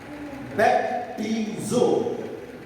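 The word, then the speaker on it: βαπτίζω: इस्तेमाल हुए हैं बपतिस्मा के लिए, वो है बैप्टिज़ो। इसके लिए आप लफ्ज़, आप इसके जो स्पेलिंग है वो लिख सकते हैं, BAP एस नहीं है, ये है BAPTIZO, बैप्टिज़ो।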